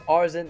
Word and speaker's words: Arzent: By the way, I always pronounce it as Arzent, and then the T is like Mr. T, like a capital.